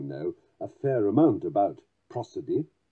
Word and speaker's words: prosody: a fair amount about prosody sometimes also pronounced cruiser D that is to say